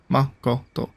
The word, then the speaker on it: Makoto: mercado's power makato Makoto it's a hard Japanese name to pronounce me Makoto Makoto three syllables right somehow made the tree